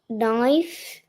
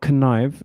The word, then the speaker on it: knife: Knife, knives. Yeah, not connive. It's a silent letter.